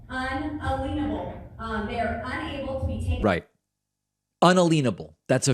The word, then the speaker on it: unalienable: with certain inalienable rights that's inalienable that word is not pronounced inalienable these rights are unalienable um they are that's